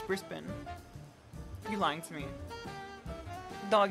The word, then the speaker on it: Brisbane: and twigs and all Brisbane is not pronounced like that it's Brisbin you're lying to me